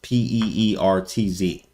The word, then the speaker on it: Pirc: of the perk, or the Peerts. Sorry for the people that are very technical. It's pronounced Peerts, Peertz, but it's spelled Pirc.